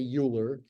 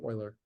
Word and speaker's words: Euler: like that don't say uler no don't say uler say Oiler we could say Oiler for short or Oiler if you want a little more flare to it he figured